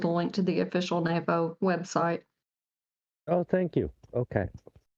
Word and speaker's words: NAFO: Gotta say it right, NAFO. It's a play on NATO.